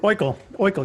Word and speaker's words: Oikle: And I just want to make sure I pronounce it right. Oikle? Is that right? Oikle. Yep, you got it. Oikle.